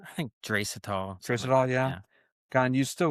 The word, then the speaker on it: Draisaitl: How do you pronounce his name? I think Draisaitl.